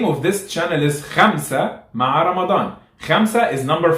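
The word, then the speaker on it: خمسة: However, khalas, since you're learning how to pronounce correctly, it's not ka, it's kha. So for example, the name of this channel is Khamsa Ma'a Ramadan.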